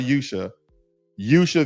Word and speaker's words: Usha: And for the sake of argument, okay, and pronunciation of her name, we can call her Yusha Vance, which is a brown Indian.